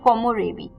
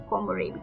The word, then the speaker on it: komorebi: सो कोमोरेबी, KOMOREBI, कोमोरेबी.